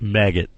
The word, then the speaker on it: Maged: His name was Maged, which pronounced maggot.